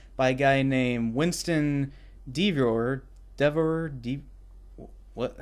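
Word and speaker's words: Deavor: And basically, there's this new push to try to get superheroes legal again by a guy named Winston Devor, what? How you pronounce that? Devore.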